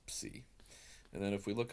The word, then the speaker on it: psi: So if you add an S to a P ending word, you'll actually change the letter to a psi. And that becomes important down the road. And that's, again, pronounced psi.